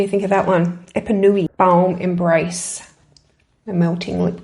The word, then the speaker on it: Epanoui: It is called Epanoui, and look at that colour.